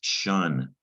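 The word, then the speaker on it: -tion: unfamiliar right now but it's french it's pronounced shun doesn't look like sean does it looks like tion kind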